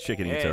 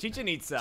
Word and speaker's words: Chichen Itza: Pretty sure it's Chicken Itza, right? Chichen Itza. Chichen Itza. Not chicken.